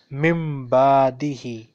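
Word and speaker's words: مِنْ بَعْدِهِ: Then in the next word again there is a small meme written, mimbadihi, mimbadihi. On normal occasion it is pronounced min, but here we will say mimbadihi.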